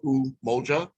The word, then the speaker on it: Umoja: a separate date so umoja is sunday and it's pronounced oo moja for unity on sunday